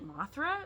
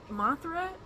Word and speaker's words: Mothra: But we used to, Mothra, if you say it right, it sounds very much like a southern girl's name.